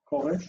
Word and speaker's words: Koresh: Koresh, it's two syllables. First is ko, open. Second is resh, unaccented and closed.